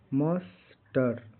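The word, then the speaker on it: muster: गया एम यू एस टी ई आर का उच्चारण लास्ट में क्या है इ आर है मस्टर इसका हिंदी अर्थ होता है इकट्ठा करना जांच निरीक्षण के के लिए बुलाना, हिम्मत जुटाना।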